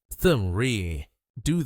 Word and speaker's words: red: The American R sound. Like in red. To pronounce it, curl your tongue back slightly, but don't touch the roof of your mouth. Keep your lips slightly rounded.